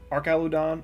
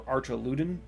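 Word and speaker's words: Archaludon: It is called Archalodon or Archaludin Archalodon. It has a couple different pronunciations.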